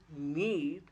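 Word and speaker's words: knead: K N E A D is need. K is silent.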